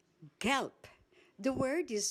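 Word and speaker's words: gelb: Galp. Galp. The word is spelled G E L B. The ending B in a word in German is pronounced as P.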